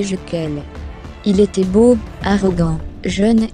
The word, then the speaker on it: Jequil: Cet homme s'appelait Jean-Pierre Jequil, prononcé Jequel.